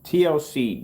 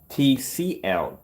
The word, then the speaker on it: TCL: TLC demonstration. Getting that from YouTube. I think I'm saying it wrong. TCL demonstration. Getting that from YouTube. There we go. I mispronounced it like that.